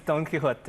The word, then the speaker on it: Don Quixote: pronunciation as well of Don Quixote, right? Yes, it's Don Quixote.